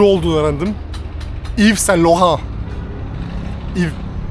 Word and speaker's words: Yves: Yves. Y yok mesela başında.